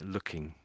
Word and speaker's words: looking: I've said it before so I'd say looking looking yeah maybe you say it too fast there the first time you said a little bit too slow you sort of split up the the syllables a little bit and the last time perhaps a bit too fast so looking looking and And I guess you're missing out the NG bit.